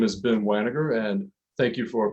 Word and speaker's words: Wanager: All right, my name is Ben Wanager, and thank you for pronouncing it correctly.